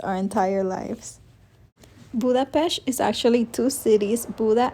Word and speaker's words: Budapest: It's actually pronounced Budapest, although most of us have been saying Budapest our entire lives. Budapesh is actually two cities, Buddha and Pesh, separated